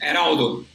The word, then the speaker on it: Eraldo: Eraldo. Yeah, Eraldo. I mean, Eraldo, you guys. Eraldo, you gotta, roll your tongue a little bit.